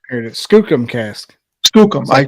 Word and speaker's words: Skookum: How do you spell that? Skocum, you're asking the wrong person to spell anything.